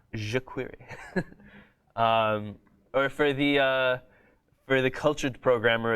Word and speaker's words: jQuery: Did you know that it's pronounced that way? A lot of people say jQuery, but it's jQuery.